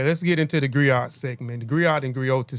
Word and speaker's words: griot: The griot or jelly professional encompass many roles. The griot or the griotis, pronounced griot or grioti, have been referred to